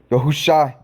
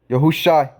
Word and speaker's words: Yahushai: I've been led in the Ruch and have came across the correct pronunciation of Yahusha's name is truly Yahushai. Yahushai.